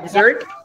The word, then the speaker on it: dessert: Ya, dessert. I think the pronunciation is dessert. Sedangkan Padang pasir itu desert.